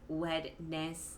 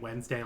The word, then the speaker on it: Wednesday: an accent wouldn't make you just phonetically like pronounce every letter word. Like wedness. Like no. You have to try. Like you have to actively try to pronounce it that way, as opposed to just saying it Wednesday like everybody else.